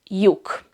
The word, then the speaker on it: lyuk: But it has the Y sound, like in the English word you, and the same sound as the Hungarian letter J. So ellipsilon and J have the same sound, Y.